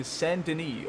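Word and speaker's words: Saint Denis: you want to make sure to go to sandini or saint dennis as it's phonetically going to sound mercies to you it's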